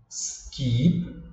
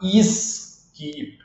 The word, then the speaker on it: skip: som aí de Ah o brasileiro tem a tendência de colocar um I aqui no começo né E falar isip aí erra nas duas